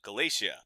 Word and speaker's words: Galatia: And then I was like, "Oh, it's pronounced like Galatia, the Roman province in Anatolia, but it's spelled differently.